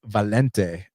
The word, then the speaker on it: Valente: His subsequent fight, when he fought that Brazilian, I think they pronounce his name Volante, not like my boy John Volante. It's Valente, Renato Valente.